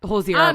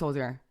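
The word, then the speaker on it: Hozier: Yeah, Hosier, babe. Look at you not pronouncing the R.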